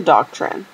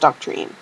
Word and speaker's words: doctrine: Yeah, it was a doctrine. She did not only did she not know what it was, she didn't know how to say it. Like, she thought it was pronounced doc-treene.